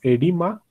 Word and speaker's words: oedema: These are used to prevent this called, this written as OEDEMA. It is called, pronounced as edema.